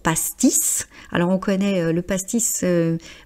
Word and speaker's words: pastis: Donc ici c'est une exception, on prononce le S pour pastice.